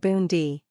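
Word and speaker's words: Bun di: Pronounce it Bundi.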